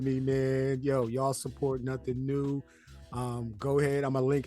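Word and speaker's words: Nothing Neue: man yo y'all heard it from him from nothing new man yo he speaks in beats blips pixels and bits it's pronounced nothing new Yo H yo my guy I appreciate you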